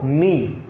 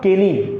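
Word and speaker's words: knee: this is नॉट केनी this is नॉट केनी this is नी it means this is नी okay again if यू see here k एंड A okay yes सो in this particular case के remains silent okay now come to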